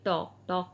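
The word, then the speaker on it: talk: हैं उसे कहा जाता है पब्लिक प्लेस टीएलके टॉक मतलब बातें करना टीएल के टॉप यहां पर साइलेंट है इसलिए बोला जाता है टॉप टेन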